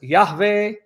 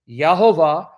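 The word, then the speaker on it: יהוה: Pronounced as Yahweh, Yahweh, Yahovah, Yahovah, Eloheinu, Yahovah, Echad.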